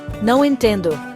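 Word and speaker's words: não entendo: Phrase number seven, no intend. That's I don't understand. It sounds like now intend.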